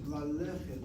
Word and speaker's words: ללכת: And look at the infinitive of that word, ללכת, ללכת, ללכת. Notice how I'm pronouncing it. ללכת, the sego on the aleph is a short vowel open syllable.